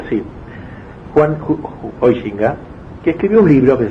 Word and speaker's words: Huizinga: Hay un pensador holandés, protestante creo, llamado Huizinga se dice, pero nadie lo pronuncia así, Juan Huizinga, que escribió un libro que se llama así, Homo Ludens, el hombre que juega.